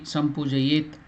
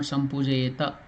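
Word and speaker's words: संपूजयेत्: See, Sampujayet. It is not Sampujayeta. There is that stroke below. That means it is half letter.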